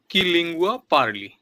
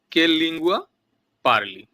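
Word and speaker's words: Che lingua parli: তারপরে কি লিঙ্গুয়া পারলি? তুমি কোন ভাষায় কথা বলো? কে লিঙ্গুয়া পারলি। আমি হয়তো প্রথমে একটু ভুল উচ্চারণ করেছিলাম। হবে কে লিঙ্গুয়া পারলি।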